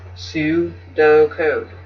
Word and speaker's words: pseudocode: code you pronounce that su-do code you know um well you might not know but most ps words pursue like p s e u words like that um sound the p is silent but um anyways that's